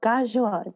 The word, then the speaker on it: KaZoua: You say it like with the back of your tongue. So KaZoua. You take the back of your tongue, press it at the roof of your mouth, and do the g sound.